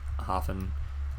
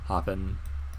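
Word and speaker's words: Höfn: road right here towards hoffen hoopen hop I've heard Icelandic people call it hop so I think that's how it's said but yeah you can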